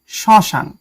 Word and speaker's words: শ্মশান: পদের প্রথমে ম ফলা থাকলে সে বর্ণের উচ্চারণ কিছুটা ঝোঁক পড়ে এবং সামান্য নাসিক্য স্বর হয় মানে কিছুটা নাকে বাজে। যেমন শ্মশান আসলে এটার উচ্চারণটা এরকম হবে শ্মশান।